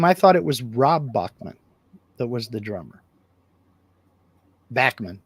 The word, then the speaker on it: Bachman: see now Jim I thought it was Rob Bachman that was the drummer Bachman Bachman however you want to pronounce it he pronounces it both ways himself